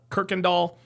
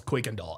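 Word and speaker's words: Kuykendall: Everybody else, everybody called him uh Kirkind Doll. He's like, "No, it's Quake and Doll."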